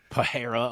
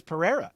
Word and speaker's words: Pereira: addict be like hey guys they keep saying pahira 100 times his name is Pereira does it say forever like why doesn't he